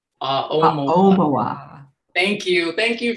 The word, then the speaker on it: Aomawa: It's pronounced Aomawa. The emphasis is on the O.